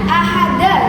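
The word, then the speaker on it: أحد: Lafal yang terterakhir ayat yang terakhir ada bacaan ahada yang mana dibacanya ahad.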